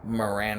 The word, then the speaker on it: Moran: of idiots talking about Moran rhymes with Duran.